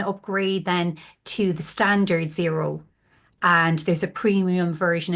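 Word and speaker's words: Xero: I would highly recommend it's called zero Cloud accounting software and it's x e r o is how it's spelled and they have different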